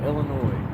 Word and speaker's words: Illinois: turn out too good S is silent Illinois that's how I've always said it anyway I say Illinois come on the